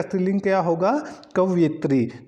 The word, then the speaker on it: कवयित्री: तो जो कवि है तो कवि का जो स्त्रीलिंग होगा वो कवयित्री होगा। तो सी ऑप्शन इसका बिल्कुल सही हो जाएगा। तो हमारे पास जो कवि है तो कवि का स्त्रीलिंग क्या होगा, कवयित्री।